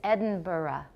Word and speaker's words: Edinburgh: middle right will sound to a Scotsman from Edinburgh lion Barra okay the American pronunciation is Edinburgh because we don't know how to say it right but the Scottish or the the UK pronunciation is Edinburgh Edinburgh Joe a - why at the end